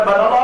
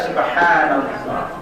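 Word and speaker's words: سبحان الله: Yang cepat-cepat banallah, banallah, banallah, banallah, banallah. Makanya bacanya pelan aja, subhanallah, subhanallah, subhanallah.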